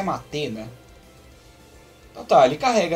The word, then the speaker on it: Mate: Na verdade, a pronúncia é Mate, né?